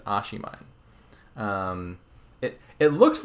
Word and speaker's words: oshiimine: consulted with Oishi and figured out the correct pronunciation I believe it's a she mine it it looks like some like Japanese thing